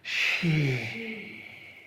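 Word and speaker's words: shi: back to center exhale make the healing sound she s-h-s-h-i and pinion but pronounced like s-h-e-she she bend the waist and move your hips around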